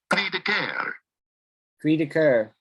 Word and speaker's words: cri de coeur: So listen to the sound of it, pronounced properly. Listen. Cri de coeur.